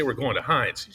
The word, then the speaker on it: Heinz: it matters and and Heinz will stick to of course that name was just I mean it's everything that you want as long as it's not hunts right that's true it's two syllables too that's the other thing